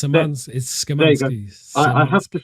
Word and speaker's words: Szymanski: It's Szymanski.